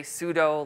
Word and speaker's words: sudo: Some of you may have used the command sudo. Again, some people say sudo, like it rhymes with judo.